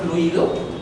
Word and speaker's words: fluido: Yo les pregunto, ¿la palabra fluido le colocarían tilde a la palabra fluido? A ver, pronuncien la palabra fluido.